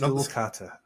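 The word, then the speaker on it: Schoolkate: His opponent in the quarterfinal, Tristan, apparently his surname's pronounced Skulkata. Skulkata, not Skulkate. I think so. I mean, a Skulkate has been how I've heard it, but I think it might be because Skulkata is actually, I think it's a Dutch name, so which would explain the difference pronunciation.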